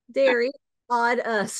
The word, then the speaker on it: Sideriadis: made a little cheat sheet here that says Dairy odd us that's good perfect and I appreciate you asking Carolyn's pronunciation too yeah because sometimes hairline all the